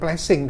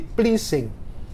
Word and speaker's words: pleasing: ini bahasanya bukan pleasen yang ini bukan plessing tapi pleasing ucapannya Inggris itu waneh